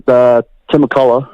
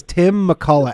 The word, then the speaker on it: McCullough: Tim McCullough. MCC. Yeah. ULLOUGH. Everyone thinks it's OUGH, but we spell it OCH at the end.